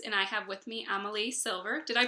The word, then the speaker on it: Amalie Silver: off my books and I have with me Amal silver did I pronounce it right yes you did y author